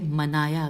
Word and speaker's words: منایا: اگلا جو ورڈ ہے عربی کا، اس کی ہجے ہے وہ ہے منایا. میم نون الف، یہ الف اور سب کے ساتھ فتح ہے.